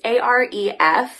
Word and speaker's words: Arif: It is written from the perspective of an 8-year-old boy, Arif. I might be saying his name wrong. It's Aref.